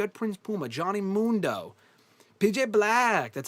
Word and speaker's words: PJ Black: PJ Black. That's how they pronounced his name.